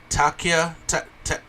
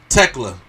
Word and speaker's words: Thekla: Ty Mello, number 5, Takia. How you pronounce it, Prime? It's Thekla. Tekla, yeah. No, Thekla.